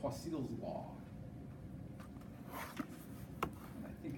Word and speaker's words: Poiseuille: So I say Poiseuille's law, but it sounds a little bit more like another name for a cat, okay?